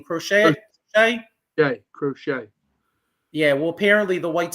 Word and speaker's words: Crochet: crochet how do you say his name crochet crochet yeah well apparently the white socks are re